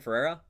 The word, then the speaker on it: Ferrera: America, how you pronounce the name? Ferrera.